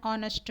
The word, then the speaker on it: honest: We see here h is silent and an honest man, an heir.